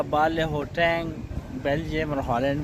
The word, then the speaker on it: Baarle-Hertog: with ल our enclave what is a pronunciation in द the nether how they pronounce इ nether बले नसा okay इ the nether okay and Belgium बले हे बले हे ओके राइ ओके थैंक